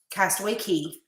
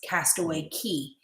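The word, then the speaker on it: Castaway Cay: and they dock in castaway key i know it's spelled c-a-y and if you're a novice you're obviously gonna say castaway k however it's castaway key is how it's pronounced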